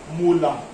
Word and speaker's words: molar: This capital M is pronounced like this, molar.